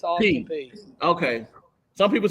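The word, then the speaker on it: Austin Peay: I'm not for sure if it's pronounced Austin P. It's Austin P. Okay. Some people said Pay. I wasn't sure. No, it's Austin P.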